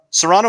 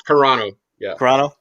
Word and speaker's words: Carano: saw the tweet from gina uh serrano or carano i don't want to say it wrong serrano i think it's carano i saw her tweet